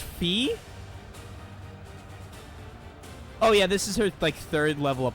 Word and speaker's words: Phi: more useful now interesting it's pronounced fee oh yeah this is